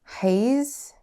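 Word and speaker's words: Heisz: i'm borrowing from how do you say your last name h-e-i-s-z haze how do you say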